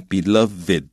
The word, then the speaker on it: beloved: townspeople，就是这个镇民或者市民，那他们怎么样 killed，他杀害了他的 beloved crane，他心爱的那只鹤。那各位注意 beloved 在这里是形容词，所以要念成 beloved 啊，那个 ed 是有母音在里面的。